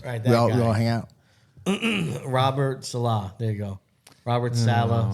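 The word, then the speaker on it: Saleh: Robert Salah.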